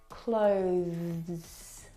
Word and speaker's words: clothes: tongue through your teeth now the th sound is very very soft it is definitely still there it needs to sound different from the verb close okay which doesn't have the th sound this word has the th sound clothes clothes is it's very short but it's definitely there I need to pack